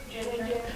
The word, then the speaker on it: ginger: Ginger. Ginger, right? So this first G makes a J sound, correct?